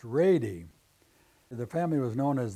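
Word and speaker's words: Wrede: He married Bertha Reed, and that Reed is spelled W-R-E-D-E. And my grandmother always said it was pronounced Rady.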